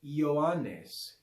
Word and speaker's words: Johannes: j alright so in in latin we pronounce it as an i yoanes yoanes but in english that that i because it has sort of a consonant feel when we pronounce it as a yeah over time changes happened and it ends up being replaced by the english j so fue tomo misus adeo